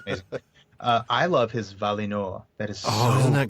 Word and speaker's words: Valinor: That second syllable with that I should be an E sound rather than an I sound. Certainly not an uh sound like we do it as Valinor. Valinor, yeah.